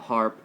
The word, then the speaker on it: HAARP: with different frequencies and we all know about HARP well not all of us but you know hopefully uh it's spelled h-a-aarp and they have different stations uh